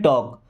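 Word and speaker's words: talk: अभी TAL के यहाँ पे L साइलेंट है, क्या पढ़ते हैं, टॉक।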